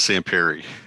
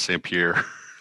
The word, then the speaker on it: Sampiri: It is Sampiri. Everybody says Sampierre.